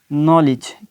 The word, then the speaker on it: knowledge: अगर के आ जाए, अगर एन से पहले के आ जाए तो क्या होगा कि उसकी वॉइस, के की वॉइस जो है वो हज़फ हो जाएगी, ख़त्म हो जाएगी, उसको वहाँ पे बोला नहीं जाएगा, वो साइलेंट वर्ड हो जाएगा।